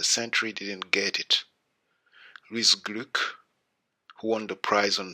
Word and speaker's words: Glück: flow in the work Gluk her surname rhymes with click not clar it's not the new